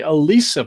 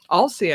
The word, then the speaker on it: Alsea: I would want to say Alicia Falls, but A-L-S-E-A is pronounced just... Alsea, I think.